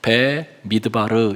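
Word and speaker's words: במדבר: 여러분 민숙이라고 하는 것은 히브리어로 배 미드바르 이렇게 발음합니다.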